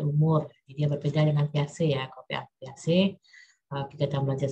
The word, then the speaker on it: Piaget: Jadi Piaget itu tulisannya itu Piaget ya, dibacanya Piaget.